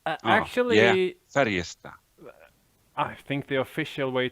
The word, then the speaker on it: Färjestad: So you don't pronounce the D at the end. It's Färjestad. Actually, Yeah. Färjestad.